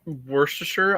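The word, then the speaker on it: Worcestershire: you can shorten it it's it's spelled wer Shire but you can say it was the was the wait wait wait tach how do you say it uh worse to sure I I want to say no that's good that's good that's how I say right that's right that's the right way just Kidd what's up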